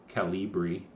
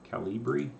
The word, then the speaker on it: Calibri: that's too boring uh i like calibri calibri is how you say that that's a nice